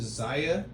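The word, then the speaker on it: Xaia: Is it Zia?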